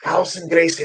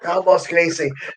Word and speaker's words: Carlson Gracie: It's Carlson Gracie, not Carlos Gracie. And I had a couple of because he mentioned Jan's name wrong as well, and I remember saying to